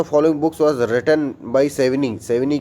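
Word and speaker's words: Savigny: सेविग्नी की बुक है इसको सेविनी कहते हैं लेकिन मैं सेविग्नी इसलिए बोल देता हूं क्योंकि हमारा स्पेलिंग मिस्टेक ना हो जो हम एग्जाम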